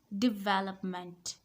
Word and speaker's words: development: this is not development the stress is not on third syllable the stress is on second syllable de development second word